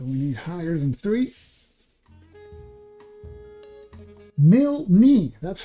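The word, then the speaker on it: Milne: Mil, that's how you pronounce it.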